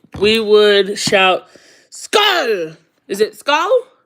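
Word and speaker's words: skål: we would shout, SKAL! Is it SKAL? SKAL, like skull, but with an A, SKAL.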